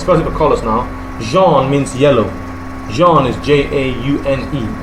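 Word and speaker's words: jaune: and pretty small colors it's possible colors now Jean means yellow Jean is j-a-u-n-e okay a yellow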